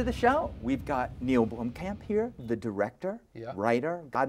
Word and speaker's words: Blomkamp: No, Blomkamp.